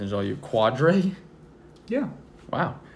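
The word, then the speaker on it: Quadree: Okay, Garrett, this pronunciation is all you. Quadre? Yeah. Wow. Quadre Olison.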